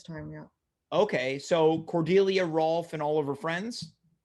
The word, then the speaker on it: Rolf: him his name is ralph it's cordelia's cousin right now can i confirm are you saying ralph or rolf rolf ralph or rolf rolf can you spell that r-o-o-f oh not l p-h-r-o-l-rolf yeah so cordelia's cousin rolf